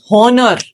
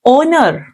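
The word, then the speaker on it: honour: एच is silent similarly ऑनर नॉट हनर एच is silent the actual pronunciation is ओनर next one very common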